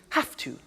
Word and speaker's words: have to: computer at work now did you hear my pronunciation i have to notice i don't say v i say f have half it becomes have to have the two becomes in pronunciation have to have to okay so i have